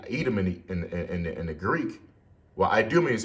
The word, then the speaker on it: Idumea: Well, Idumea is how you say Edom in the Greek, Idumea.